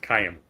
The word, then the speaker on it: Chaim: I think it's Chaim. That's how you say it. In fact, I know that.